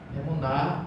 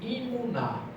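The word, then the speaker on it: אמונה: Emuná é uma palavra que ela, como o hebraico não tem vogal, você pode pronunciar ela como emuná e a fé. e imunar.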